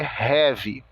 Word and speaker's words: have: O verbo T é have. O H tem o som de R, o A de E, o V de V e o E de I.